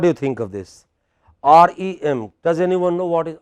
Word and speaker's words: REM: REM. What is it? REM. You know, this is how abbreviations go. Stress on the last letter.